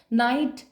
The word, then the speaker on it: knight: नाइट KNIGHT, एक होता है NIGHT नाइट, मतलब होता है रात। KNIGHT भी बिल्कुल सही वर्ड है, इसका प्रोनाउंसिएशन भी नाइट ही होता है, लेकिन जो मीनिंग होता